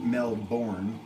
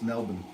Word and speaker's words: Melbourne: It's not Melbourne, it's Melbourne.